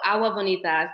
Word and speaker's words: Agua Bonita: Oh, Agua Bonita. But if you like to say the G, go right ahead.